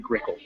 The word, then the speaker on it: Grickle: grickle grass grass yes it's a made-up word but you still pronounce it grickle that's how it's red